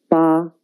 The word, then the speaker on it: 八: The pronunciation is 八.